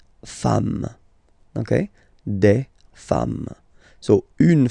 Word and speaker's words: femmes: Okay, femme, you write it like it was at the singular form, and then you just add this s at the end, and as we said, you don't pronounce it, so you get des femmes.